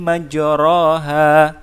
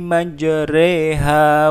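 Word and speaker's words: مجراها: Ya, bukan dibaca bismillahi majraha, tapi dibacanya bismillahi majriha wa mursaha.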